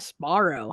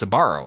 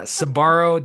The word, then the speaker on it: Sbarro: I actually hear it pronounced correctly, I always pronounce it at Esbarro.